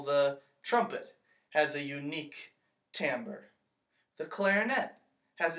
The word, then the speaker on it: timbre: you say a little different this word is Tambor Tambor can you say that tambour the tender describes the quality of a sound